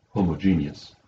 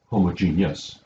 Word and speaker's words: homogeneous: This is the word homogeneous, or sometimes homogeneous. Both of those are correct pronunciations.